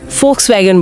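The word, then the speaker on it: Volkswagen: German भाषा में ज्यादातर शब्दों में अगर वी दिखे तो उसे एफ की तरह बोलें। जैसे Fulkswagen को लोग Folkswagen बोलते हैं।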